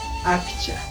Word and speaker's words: akcha: Tal como estoy escribiendo, pronuncio.